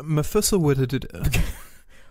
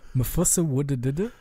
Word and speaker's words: Methuselah: You're not pronouncing it right. I'm sorry. It's Methuselah. Methuselah. Yeah, sure. Great. Perfect. I think I'm missing a P in there, but that's all right. The P is silent, like in pneumatic and pneumonia.